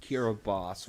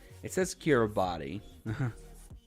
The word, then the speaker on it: Kiribati: Although, drawback, it pronounces Kiribati wrong. It says Kiribati.